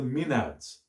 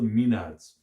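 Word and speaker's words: maenads: are called the minute the minute the minades or we call them being pronounced the mean ads and they get worked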